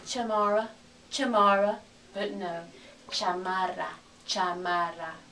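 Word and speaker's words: chamarra: So we need cha with the ch. Cha, ma, ra. Chamara.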